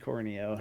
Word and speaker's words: Corneo: oh, he said Corneo, not Cornea.